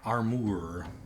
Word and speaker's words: Armour: was called Shining Armor Armour got that British I it's still just pronounced armor but okay hope you guys